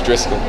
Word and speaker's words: Driscoll: It's Driscoll.